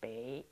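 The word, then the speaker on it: 北: character for north is bei pronounced Bay and up in pinging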